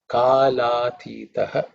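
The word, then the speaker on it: कालातीतः: So here also there's a sandhi in this la. So when we split the two words, Kala is the first word, Atitaha is the second word. That la and a becomes la. So Kala Atitaha becomes Kala Atitaha.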